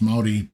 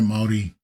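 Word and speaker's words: Māori: So this is a New Zealand kind of voice but it's doesn't pronounce moldi properly. I don't think there's a moldi. I think it's all yeah no maldi.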